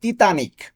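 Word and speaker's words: Titanic: তাহলে কি ইতালিয়ানে কি তিতানিক। তিতানিক, টাইটানিকের ইতালিয়ান তিতানিক, উচ্চারণটা হবে এইভাবে।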